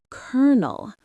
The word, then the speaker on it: colonel: The word is kernel. What is the mistake here, Sarah? The mistake is trying to pronounce it based on the spelling mark.